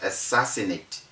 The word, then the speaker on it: assassinate: then we have assassinate the assassinate has got four ss all right so each of the two s's appearing together one by the side of the other would sound as one s so we don't say assassinate or assassinate or assassinate